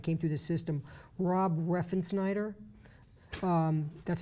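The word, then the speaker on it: Refsnyder: The kid that they really liked at the end of last year that moved through Trenton and came through the system, Rob Reffensnyder.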